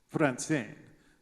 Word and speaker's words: Franzen: Franzen is a Swedish name. In Sweden, they spell it with an accent over the E, and they pronounce it Franzen.